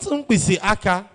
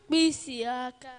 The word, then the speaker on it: mpisiaka: Not umpisi aka. No. You are getting it. But that's not the tonation. Mpisiaka.